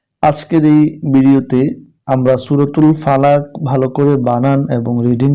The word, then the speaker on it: ফালাক্ব: ফা লাম জবর লা ফালা কফ জের ই ফালাকি ফালাকি যখন আমরা এখানে থেমে যাব উচ্চারণটা হবে ফালাক দেখুন কফে একটি তীর চিহ্ন আছে এই চিহ্ন থাকার কারণে আমরা হরফকে কলকলা করে পড়তে হবে এবার সেকেন্ড